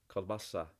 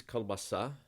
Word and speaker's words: колбаса: not saying cool and you're not saying car either like the shortened ah you're something in between so it's called color almost like coal bus it's on the last syllable kielbasa so the word is kielbasa